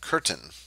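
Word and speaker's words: Köthen: going to Leipzig at curtain curtain is the way you pronounce that there with the funny accent on it and he worked for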